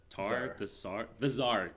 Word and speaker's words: Tsar: So like for example, there's the stuff with the Tsar of the how do you say that word? The Tsar. Thank you. It's the Z.